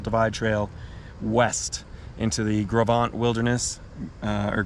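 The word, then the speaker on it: Gros Ventre: rejoins the continental divide trail west into the gravant wilderness uh or gross ventrae if you want to grossly mispronounce it i think i was corrected by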